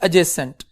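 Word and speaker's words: adjacent: तो बेटा जहां पे D और J का क्लस्टर आता है ना, तो J को हमेशा, D को हम साइलेंट करते हैं, तो द वर्ड इज एडजेसेंट।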